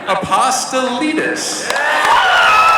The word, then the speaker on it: Apostolides: in Resident Evil, the one and only Nick Apostolides.